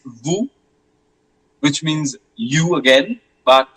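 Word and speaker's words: vous: And then it's vu which means you again but this time it's second person plural.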